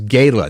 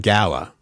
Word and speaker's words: gala: uh evidently it's always the word is Gayla not Gala I did not know